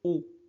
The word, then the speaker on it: haut: Le pilote, le pilote d'avion, vole très haut, très haut. On ne prononce pas H, haut, dans le ciel.